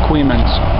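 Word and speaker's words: Coeymans: It's owned by Coeyman Marine Transport, spelled like Coeyman's, but pronounced Coeyman's.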